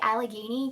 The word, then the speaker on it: Allegheny: Did you hear me say Allegheny?